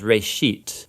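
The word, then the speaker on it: בראשית: of it's called Genesis Genesis comes from a Hebrew word it's pronounced for a sheet and it just means beginning now there's a lot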